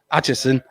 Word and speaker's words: Atchison: Mark Archison. Is that how you say it? Atchison.